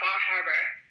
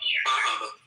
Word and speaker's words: Bar Harbor: If you weren't from the that portion of the country, you would say Bar Harbor and you would pronounce the R. It'd be harder than they pronounce it.